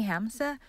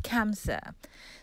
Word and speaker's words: Hamsa: sorry did i say hamsa kamsa it is spelled hamsa but it's pronounced kamsa so this is the